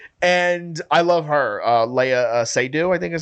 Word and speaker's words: Seydoux: And I love her, Leia Seydoux, I think is how you say her name.